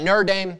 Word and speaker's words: Notre Dame: notre dame i know i said it right notre dame the likelihood of that probably not high but